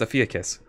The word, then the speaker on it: Ophiuchus: Yeah, it's Ophiuchus. Ophiuchus. Ophiuchus. Yeah. Ophiuchus. Okay. Oh yeah. So emphasis on the first syllable.